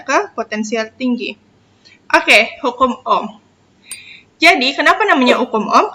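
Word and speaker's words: ohm: hambatan listrik satuannya Oh jadi itu bacanya Om bisa bersih hambatan listrik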